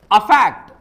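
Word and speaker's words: affect: इसे सही से मेरे साथ प्रोनाउंस करें। अफेक्ट अफेक्ट और यह है इफेक्ट।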